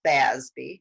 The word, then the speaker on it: FASB: board which we call fasbi if you want to know so it's fa when you pronounce it it's usually more like f-a-z-b-y i actually had a